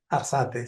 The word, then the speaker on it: Arzate: ¿Así se pronuncia, Arzate? Arzate, sí, así es.